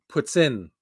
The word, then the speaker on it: poutine: Poutine is not the real way to say it. I see. That's a tourist way to say it, huh? Exactly. I thought so. See, how you pronounce this word right here is puts in. Like if you were going to say puts, like put, P-U-T with an S, and then in, puts in.